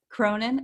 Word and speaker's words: Cronin: Cronin, how do you say it?